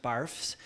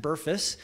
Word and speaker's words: BRFSS: this survey that's called BRFSS and it's not pronounced barfs it's pronounced Burress and that's the behavioral risk factor surveillance survey